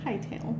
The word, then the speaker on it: Hightail: It's Hightail. Okay. Or Hittail. How would you like to pronounce that? Hightail. Okay. So Hightail. Because his tail's like all up in the air.